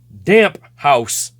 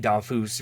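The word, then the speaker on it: Damphousse: in the day so I just looked at uh oh it's damp house and then eventually I heard it on TV dafus right so I was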